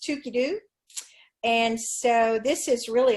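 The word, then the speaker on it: Toogoodoo: that spelled TL o goog oh oh but pronounced Tookie dude and so this is really a lot of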